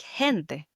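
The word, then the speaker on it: gente: hard g sound versus a word like hente the word for people which has this soft g sound the he that's right and finally to end the conversation.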